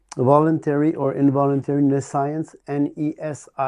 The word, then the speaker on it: nescience: Like NE and science afterwards. Like omniscience, but instead of omni, you put NE instead. NESC, like necessity. NE. Yeah. No, NESC. NESC. Yeah. IENCE. IENCE. Nescience.